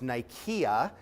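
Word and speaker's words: Nicaea: named after Victory and it would be in Greek pronounced Nika and the lake that's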